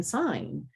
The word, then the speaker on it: sign: have that g represented we just don't pronounce it in sign in that word family so